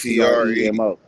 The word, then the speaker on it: Premo: not get it is Primo is spelled two ways. Y'all gotta let them know it's PRE, not PRI. My shit PREMO.